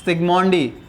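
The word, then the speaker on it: Zsigmondy: Protecting power को numbers में explain करने के लिए एक साइंटिस्ट थे, सिगमोंडी, जेड साइलेंट होता है, इन्होंने एक नया नाम दिया था गोल्ड नंबर।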